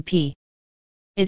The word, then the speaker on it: pi: The symbol for pi is the Greek letter for P. It is spelled P, I, and is pronounced pi.